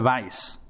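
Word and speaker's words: Weiss: There was a fellow whose name was Maisha Vice. Misha Vice, you know, with a W but pronounced vice from Poland and he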